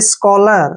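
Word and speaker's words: scholar: को कैसे पढ़ते हैं जब भी वर्ड के बीच में सीच आता है तो उसको हम क पढ़ते हैं कुछ एग्जांपल लेते हैं जैसे स्कॉलर स्कॉलर में बीच में सी एच आया है इसलिए हमने सी को क पढ़ा है स्कलर ठीक है ना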